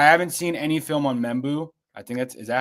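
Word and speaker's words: Membou: I haven't seen any film on Membu. I think is that how you pronounce his name? Yep. Armin Membu.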